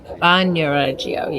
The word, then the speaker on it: Bagnoregio: in the town of Bagnoregio, right? Is that how she's saying it? Bagnoregio. I thought the G was silent. It seems like the G is silent. Bagnoregio, yeah, that's how you say it.